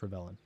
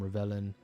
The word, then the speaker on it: Rivellon: I think it's pronounced Rivellion.